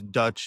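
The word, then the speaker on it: Deutsch: Then in 1948, Albert, I think it's Dutch is how you pronounce this, wrote a photographic expose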